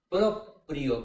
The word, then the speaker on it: proprio: Es propio. Proprio, como en italiano hoy en día, propio el tipo que dice yo mismo. Proprio es proprio. Lo hice motu proprio.